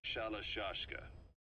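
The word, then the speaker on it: Shalashaska: Someone must have known about that, because somewhere along the line, Shashka got stuck on the end of Sharashka. The guerrillas were using the name amongst themselves. By the time I got to hearing about it, pronunciation had wound up as Shalashashka.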